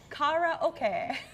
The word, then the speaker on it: karaoke: know what they're saying is the world's most mispronounced word karaoke way to say it is Cara okay means empty orchestra in Japanese okay I'm definitely